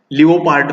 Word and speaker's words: leopard: Leopard पण म्हणतात बरेच जण याला, चालू शकतं पण the actual pronunciation is leopard.